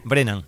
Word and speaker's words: Brennan: Ella es Brennan, ¿cómo se pronuncia exactamente? Brennan. Es irlandés.